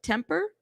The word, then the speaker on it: Tempe: others it's true um is it tempy pronounced Temper Temper okay days later I